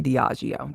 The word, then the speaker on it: Diageo: Diddy, being the liar and scumbag that he undoubtedly is, says that Diego had neglected, and I think I'm saying it right, Diageo or Diego, it's spelled Diageo. Um, we'll say Diageo.